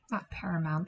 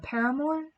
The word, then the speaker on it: Paramore: Is it not Paramount? That's the TV company, but it's like Paramore, I think. They do like the Crush Crush Crush song. Yeah, okay, that's how you say it.